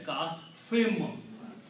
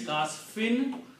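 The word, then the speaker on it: كَعَصْفٍ مَأْكُولٍ: of this meme as kasfim. Originally it's kasfin, but because of the meme which is appearing after fa, it's the sound of this noon is pronounced as sound of this meme.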